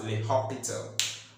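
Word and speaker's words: L'Hôpital: 4 over 3 by le hospital rule. By the hospital rule remember I've told you can also pronounce this as the hospital.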